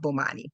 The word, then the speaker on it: Bomani: Maui Bummani.